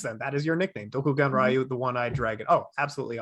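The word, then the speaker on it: Dokuganryu: What is Dokugaru? I'm sure I'm saying it wrong. Doku Genryu.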